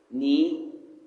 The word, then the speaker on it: knee: We are looking at the letter K. The sound is silent, and the words used in this rhyme is knife, knee, knock, knock, knuckles, night, new. All the words, the K is a silent K.